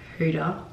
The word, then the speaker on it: Huda: Oh my god, I can't wait to meet Huda. Yeah. Is it Huda or Huda? Huda. Well, like Huda? Yeah, in Arabic it's a different pronunciation.